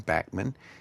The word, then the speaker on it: Bachman: But the Guess Who was first around with Randy Bachman who pronounces his name Backman, and Burton Cummings, who's one of my favorite heroes.